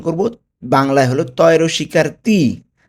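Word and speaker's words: ti: টি কে উচ্চারণ করব বাংলায় হলো তয়র শিকার তি। তি, নট টি।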